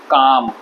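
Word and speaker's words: calm: आप सारे वर्ड्स में एल साइलेंट होता है। इसको बोलेंगे शुड, इसको बोलेंगे वॉक, टॉक, हाफ, काम।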